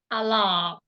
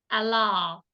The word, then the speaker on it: allow: allow yes allow allow allow uh don't pronounce the W okay aot ah all allow allow um all all that's